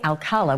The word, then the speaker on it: Alcala: red flag following year Rodney Alcala was the way it was actually pronounced um he a 12-year-old